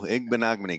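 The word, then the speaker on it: Igbinoghene: Igbenogany. There you go. Igbenogany.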